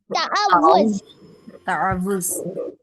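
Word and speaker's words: تعوذ: माशाल्लाह, असल प्रोनाउंसिएशन काफी लोगों ने दुरुस्त कहा, तावुज़ है। यकीन कीजिए मैंने बहुत अरसा तक मैं इसको ताउज़ पढ़ती थी, मुझे पता नहीं था कि असल प्रोनाउंसिएशन इस लफ्ज़ की क्या है।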